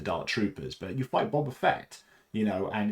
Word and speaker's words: Boba Fett: uh whereas you're fighting Boba Fett as a Jedi um sorry I always say Boba Fett rather than Boba Fett I know Boba Fett is the correct pronunciation this is one of